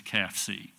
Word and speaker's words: CAFCE: And I know it's a mouthful, but the way you pronounce the abbreviation is CAFCE.